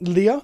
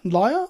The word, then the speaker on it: Lyre: A foil entrancing Lyre, not Leah, Lyre?